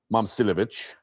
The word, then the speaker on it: Momcilovic: And then what they do is they get in transition and by the way, I I've been saying his name wrong. It's Milan Momcilovic.